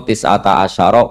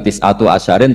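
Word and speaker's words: تِسْعَةَ عَشَرَ: tetep in atase neroko tisata Asaro utawi solongol tetap bacanya bukan tisatu asarin tapi tisata Asaro jadi kita tahu secara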